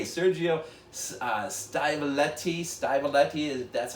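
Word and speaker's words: Stivaletti: now i've got to say sergio uh styletti stymoletti that's how you say it uh he of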